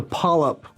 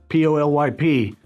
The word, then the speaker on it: polyp: Sounds like a pallet, but it's a polyp. P-O-L-Y-P.